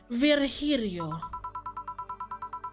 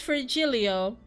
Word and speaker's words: Virgilio: meet again bartender you look winded virgilio it's pronounced virgirio no I'm pretty sure it's for Julio you said as much the last time you